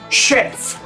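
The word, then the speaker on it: skjerf: bufanda en noruego no se dicef se dice sherf y luego tenemos la combinación tj que se pronuncia de igual manera que la combinación kaj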